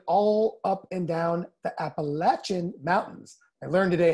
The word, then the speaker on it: Appalachia: Pronounced Appalachia, not Appalachia, as you may have heard earlier.